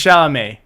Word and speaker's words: Chalamet: It's Chalamet. Yeah. Because there's no T pronunciation.